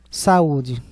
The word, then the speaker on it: saúde: Saúde é paroxítona com hiato, sendo que a letra U é tônica, por isso que deverá ser acentuada.